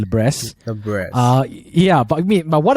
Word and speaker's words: Libresse: Some people call it Libresse, but I think the right way to pronounce it is actually Libresse.